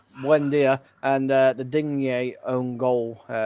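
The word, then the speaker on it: Buendía: Buendia, I'm going to say. Buendia. Yeah, that's the one. Yeah. Buen dia. It's like good day in Spanish. Good buen dia. Good day. Okay, Buendia and the Digne own goal, giving Everton their goal.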